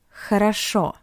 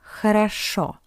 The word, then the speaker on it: хорошо: Хорошо. Хорошо. Because the first two O are unstressed, that's why we pronounce it as A.